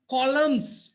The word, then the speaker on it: column: அப்போ there are 3 columns. Columns is spelling COLOUMNS. MN ஒன்று வரும். column தான் சொல்ற. column அப்படி எல்லாம் சொல்லல. column silent letter sir. column N வந்து silent.